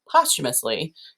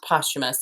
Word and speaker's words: posthumous: he was alive but posthumously he made you know a ton of it and so that just means after death and it is pronounced posthumous and not posthumous just so you know